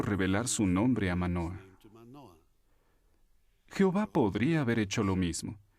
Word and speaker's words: Jehová: exacta del nombre original algunos expertos creen que la pronunciación original se parecía más a yahvé que a jehová otros piensan que pudo ser lleva pero cuán importante es